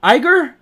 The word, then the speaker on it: Iger: uh it says right here breaking CEO Bob Iger how do you pronounce his name Iger IG Bob Iger all